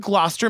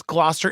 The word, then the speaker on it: Gloucester: a documentation well done everybody we open in glester Massachusetts which by the like just coming from Massachusetts Gloucester is so beautiful yeah it's it's spelled like